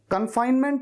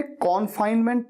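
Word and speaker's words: confinement: कन्फाइनमेंट को कई students ने कॉन्फाइनमेंट भी कहा है, जबकि मैंने वीडियो में क्लियरली कहा था कन्फाइनमेंट।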